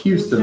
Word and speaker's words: Houston: okay what about us Houston Texas no it's Houston but the way you spell it is Houston no she said Houston Texas